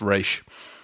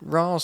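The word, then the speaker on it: Ra's: another comic tidbit of nolan doesn't know how to pronounce things it's race racial no again ross sounds better so is that in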